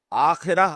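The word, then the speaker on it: آخرة: کلا بل تحبون العاجلہ، تم عاجلہ سے محبت کرتے ہو۔ عاجلہ آخرہ کے مقابلے میں، آخرہ آخرت جسے ہم آخرت کہتے ہیں، عربی میں اس کا تلفظ آخرہ ہوگا۔ اس آخرہ کے مقابلے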